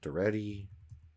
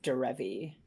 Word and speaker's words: Derevi: We got the Island, Duretti, Emil. Do you mean Derevi?